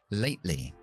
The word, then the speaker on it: lately: Entonces esa T la dejo en una parada. Late, lee, late, lee. Subo la lengua, freno y bajo con la L. Late, lee, lately, lately.